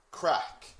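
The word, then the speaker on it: craic: okay this word here crack it is just pronounced like c or a c k crack so what's the crack and what this means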